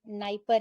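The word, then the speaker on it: Dnieper: तो देखिए डैन्यूब है, नाइपर है, मतलब डी साइलेंट है, एक डॉन रिवर है वो भी यहीं पे गिरती है, आप ये भी देखोगे डी से एक है नाइस्टर।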